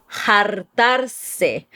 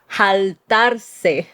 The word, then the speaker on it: Jartarse: Moving on, the next one we have is Jartarse or Jartarse. Is that how they say it? Usually the R's turn to L's in Puerto Rican Spanish.